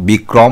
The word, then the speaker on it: বিক্রম: এর উত্তর হবে বয় হ্রস্বইকার কয়রফলা ম বিক্রম শব্দের সঠিক উচ্চারণের রূপটি হল বয় হ্রস্বইকার কয় হসন্ত কয়রফলা ওকার ময় হসন্ত বিক্রম।